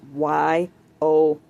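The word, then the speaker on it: Weyauwega: It's actually pronounced Wyowega.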